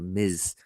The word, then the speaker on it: Ms: a Mrs uh or I said misses but they're actually a Miz a Miz is generally